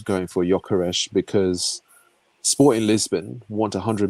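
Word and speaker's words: Gyökeres: Yokeresh. Yokeresh. There you go. That's correct pronunciation.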